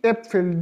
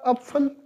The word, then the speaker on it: Äpfel: These two dots has a vital role in the changing the pronunciation. So Apfel will be changed into Äpfel.